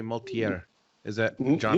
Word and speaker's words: Mulatier: I always say Mulatier. Is that John? Mulatier.